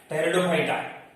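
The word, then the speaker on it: Pteridophyta: टेरिडोफाइटा, P silent रहेगा, टेरिडोफाइटा है। टेरिडोफाइटा, xylem and phloem present, well differentiated body.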